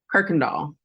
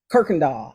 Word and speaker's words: Kuykendall: me with your last name how do you pronounce it Kirkendall Kirkendall Kirk doll welcome how are I'm doing real good